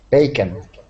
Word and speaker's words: bacon: it's a bacon okay bacon excellent okay uh yeah we pron that oh with the end is actually pronounced like a short I bacon bacon bacon bacon